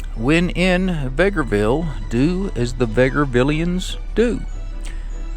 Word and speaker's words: Vegreville: And interestingly, they said Vegreville, like Beggarville, only with a V.